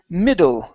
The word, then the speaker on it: middle: to okay the word middle up here instead of me Middle School okay give me a short I middle middle school middle school